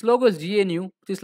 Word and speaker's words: GNU: able to a lot of information is about gnu so what this gnu stands for so gnu